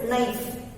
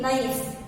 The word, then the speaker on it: knife: This is knife. And here K is silent. We start the word from N-I-F-E, knife. क्या बोलते हैं उसे? N-I-F-E is knife बोलते.